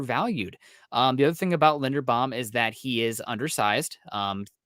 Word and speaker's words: Linderbaum: Lindenbaum, am I pronouncing it? Linderbaum. Linderbaum. Okay, Yeah, I think he's gonna go somewhere from pick 18 to 30.